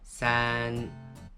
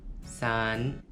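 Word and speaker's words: 三: Et la prononciation en mandarin, san. En japonais, san.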